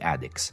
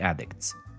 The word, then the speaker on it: Addicks: The club also features another nickname, The Addicts, not The Addicts. This one comes from the local way of pronouncing the word haddock, and it is said